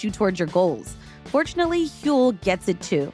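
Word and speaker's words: Huel: Grabbing my Hule Black Edition saves my mornings.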